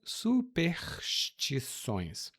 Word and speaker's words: superstições: E observe a minha pronúncia, eu falo superstições, mas às vezes quando a gente fala muito rápido, a gente suprime a letra S, ou melhor, o som de S. Então, algumas pessoas vão falar superstições assim ou superstições. Cuidado com a pronúncia superstição. Essa é uma pronúncia comum, mas errada aqui no Brasil, tá bom?